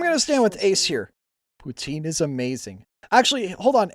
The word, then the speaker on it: poutine: Is it Poutine or Putin? Putin. More like the second one, but not quite. Okay. Like Putin. Like like Putin. Not Putin.